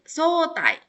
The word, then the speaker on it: 早退: Ini juga karena ketemu sama kanji ya. Dibacanya tai, sotai.